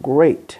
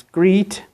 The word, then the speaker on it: great: Most typical example, great, which many Italians always pronounce greet, which is absolutely wrong.